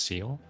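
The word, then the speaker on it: Sciel: Google is telling you it's pronounced seal. Excuse me. That's not at all how I thought it'd be pronounced, but uh what do I know? I'm not French.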